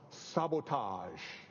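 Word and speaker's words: SBTG: his own brand name sb T G pronounced sabotage you would never have guessed but it works it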